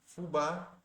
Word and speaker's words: fubá: penúltima sílaba lápis e fubá Você pode ver o acento ali no a el está na última sílaba então PR questão de